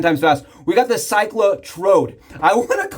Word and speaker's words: Cyclotrode: We got the ClycloTrode.